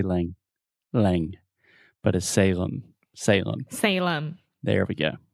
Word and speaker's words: Salem: with the pronunciation so this is Salem s-a-l-e-m and remember whenever you have a word that ends with the letter M in English we're going to close our mouth completely because your natural tendency